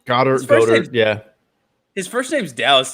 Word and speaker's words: Goedert: Is that how you pronounce his name? Goddard, yeah.